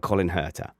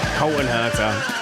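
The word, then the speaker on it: Colton Herta: Let's talk about Colin HEERTA. Colton, I know I said it wrong. Colton HEERTA.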